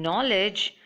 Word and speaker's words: knowledge: the pronunciation is government in knowledge the K and D are silent so the pronunciation is knowledge and in receipt the